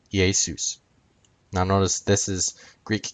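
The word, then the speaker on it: Ἰησοῦς: came together forming Yeshua's Greek root EA suit when used as a subject EA soos when used as an object EA soon in Greek characters yay soos now notice this is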